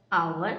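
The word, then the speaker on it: hour: यहाँ पर आवर में एच का साउंड साइलेंट, जबकि इंग्लिश में ओ से और हिंदी में आ से शुरू हो रहा है।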